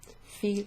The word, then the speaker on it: fille: So ma fille, fille like Fiona or Fion.